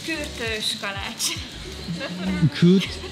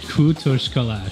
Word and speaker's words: Kürtőskalács: Kurtas kalach. How do you pronounce it? Kürtöskalács. Kürtöskalács.